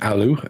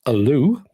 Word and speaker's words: ALLU: Apparently, ALLU isn't ALLU, it's ALLU.